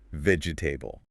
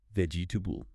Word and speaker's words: vegetable: B L E The anxiety here comes from trying to pronounce every single vowel. vegetable Four syllables, but in natural English, we delete the middle E. It becomes three syllables. vegetable vegetable Much faster.